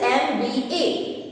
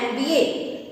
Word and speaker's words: MBA: So here the first alphabet is M. So the sound of M is, say it, M. M starts with A then M. So the sound is of A, and A is a vowel sound.